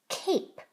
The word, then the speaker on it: cape: The E is silent. Now add the onset. K, ape. K, ape. Cape.